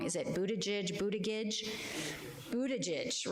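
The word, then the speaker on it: Buttigieg: is the husband of Pete budy and I pronounce it wrong is it Budaj budage Budaj right so many of you remember Pete Budaj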